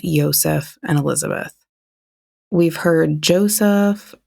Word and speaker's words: Josef: It seems like it depends on if you're overseas or if you're in the US. So, we're going to try and keep it as close to origins as possible. And we think it's pronounced Yseph and Elizabeth.